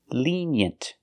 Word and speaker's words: lenient: the opposite of strict pronunciation lenient the first vowel is a long e like green beans Le leant we have we have the Y sound like yellow and yesterday lean y y yent we have the short